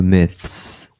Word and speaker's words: myths: the moon, there were myths. Então a linguinha aqui, né, entre os dentes, né? Myth. Aí depois você tem que passar pro S.